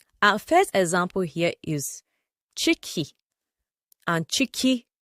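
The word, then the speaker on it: ciki: Chicky c i k i chicky and cheeky. Chicky means stomach, your tummy. It can also mean pregnancy and it also means inside but it's pronounced as cheeky.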